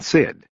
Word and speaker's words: SID: up first he said pronouncing the acronyms as Emmy and Sid then we'll take the